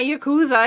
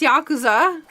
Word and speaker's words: Yakuza: Everyone's like, Saku, it's not you. It's not Yakuza. It's Yakuza. You know, as soon as I say it, every time I remember the fact that I'm saying it wrong.